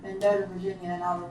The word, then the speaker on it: Mendota: And then yesterday in the car, she tried to start towards like Mendota, Virginia, and I was like, hey, like if you're not taking me up there, that's fine.